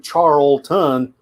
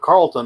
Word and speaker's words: Charlton: and a charles and when you come across this name charlton the brain says how do you pronounce that and i probably just went with carlton all these years but i know better i just i can't correct myself so i was starting to question myself i was thinking maybe it is carlton because maybe you don't pronounce the h yeah same thing i